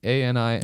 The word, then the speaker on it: Anima: A-N-I-M-A.